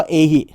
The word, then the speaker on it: เอหิ: กัน นะ ครับ แต่ มัน อ่าน ว่า เอหิ นะ เอหิ อ่า มา อื เล